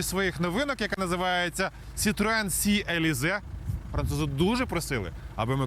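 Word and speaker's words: C-Elysée: тут із однією своїх новинок яка називається Citroen Sea elize французи дуже просили аби ми коректно вимовляли цю назву це дуже важливо в будь-якому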